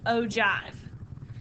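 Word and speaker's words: ogive: and it's spelled o give but it is pronounced ove and this is a cumulative relative frequency graph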